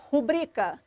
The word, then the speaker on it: rubricas: Terra Já a palavra rubricas a sílaba tônica é um penúltima sílaba nesse caso tratada como paroxítona é uma paroxítona não